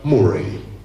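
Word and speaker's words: Moray: Che in Scozia la contea più grande si chiamava Morai, uguale come in Perù, però si pronuncia Murray.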